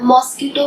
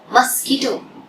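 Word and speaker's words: mosquito: जैसे for example कोई word ले लिया, मॉस्किटो वर्ड होता है, मच्छर, मॉस्किटो, basically how we pronounce it, मस्कीटो। तो ये ध्यान रखना है, मॉस्किटो नहीं बोला, मस्कीटो।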